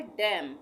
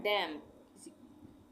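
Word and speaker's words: damn: रहा है तो मम इसको हम एन साइलेंट कर देंगे एन का उच्चारण नहीं करेंगे मम इसी तरह से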